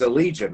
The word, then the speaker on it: Allegaeon: My guest today is Greg with it's a Legion, right?